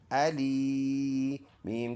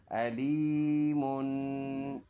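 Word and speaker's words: أليم: हमज़ा ज़बर आ लाम या ज़ेर ली अली मीम टू पेश मुन अलीमुन। स्टॉप करेंगे तो ये दोनों पेश साइलेंट हो जाएंगे, अलीम बन जाएगा।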